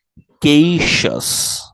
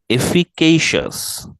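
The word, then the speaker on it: efficacious: করে আছেন আমার সাথে সাথে আপনারা এই শব্দগুলোর উচ্চারণ প্র্যাকটিস করুন প্রথম শব্দটা এফিকেশাস এফিকেশাস এফিকেশাস সবাই এফিকেশাস এফিকেশাস এফিকেশাস এফিকেশাস মানে হচ্ছে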